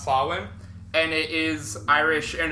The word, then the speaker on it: Samhain: So, the festival known as Sawin is spelled S A M H A I N, but it's pronounced Sawin.